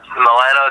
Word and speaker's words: Milano: But you actually live in, how do you say it, Milano, Texas? Yeah, Milano, Texas.